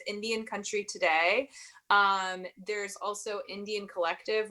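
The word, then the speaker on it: NDN Collective: There's also Indian Collective, which is spelled NDN and then collective as in the letters.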